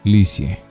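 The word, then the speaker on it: Lisieux: Se pronuncia Licie.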